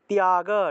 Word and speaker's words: ত্যাগ: ত্যাগ, ধ্যানাৎ কর্মফল ত্যাগ, এখানে তয়ের সাথে জফলা থাকায় তিয় উচ্চারণ করতে হবে, ত্যাগ।